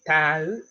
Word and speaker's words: tāu: So, T-A-U, tāu, T-O-U, tō. So the emphasis on the vowels is quite important.